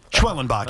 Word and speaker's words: Schwellenbach: Schwelenbach.